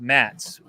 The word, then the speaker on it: Mads: pronounce it Mass but it looks like DS so in Swedish it's pronounced mats right mats yeah mads yeah so that's how